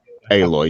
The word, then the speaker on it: Aloy: has Galt and um I forget how to pronounce her name now um The Cho aloy aloy yeah yeah exactly from from Horizon zero Dawn